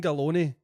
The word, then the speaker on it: Galloni: Right, but Galloni, you're Italian, right? Galloni rhymes with macaroni.